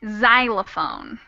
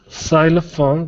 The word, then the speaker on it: xylophone: go to show that sometimes it makes a z sound but if you're curious the pronunciation is xenophobia and xylophone xylophone xenophobia exactly thank you all right